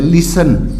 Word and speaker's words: listen: For example देखिए, LISTEN, यानी अंतिम लेटर्स क्या है? TEN, तो इसमें T साइलेंट हो जाएगा। लिसन, लिसन माने सुनना।